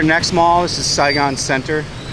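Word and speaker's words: Centre: Mall this is Saigon Center it's spelled wrong s-c-e-n-t-r-e but it is said with center and this one not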